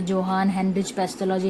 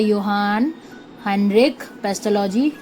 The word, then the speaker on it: Johann Heinrich Pestalozzi: अब यहाँ पे मेरे कुछ भाई बहनों के लिए मैं बता दूं कि ये जोहान हेनरिच पेस्टोलॉजी नहीं है गवारों, ये है योहान हेनरिक पेस्टोलॉजी, जो मैंने भी गूगल में प्रोनाउंसिएशन जाके ढूंढी थी.